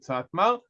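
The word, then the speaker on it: Satmar: is a group and the ALF in both cases tell tells us we should pronounce it satma anyway it is as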